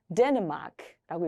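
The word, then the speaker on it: Dänemark: 덴마크라는 나라를 독일어로는 데르마크라고 읽습니다. 데르마크라고 읽으시면 되겠고요.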